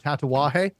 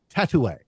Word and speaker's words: Tatuaje: I promise there was no mispronouncing of Tatawahe. or the names, because every time Tim tries to pronounce a tatuaje, it comes out tattoo.